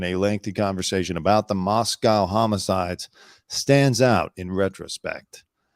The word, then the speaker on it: Moscow: Reddit as a Moscow local I guess they pronounce it Moscow right instead of Moscow like you know how Vladimir Putin would pronounce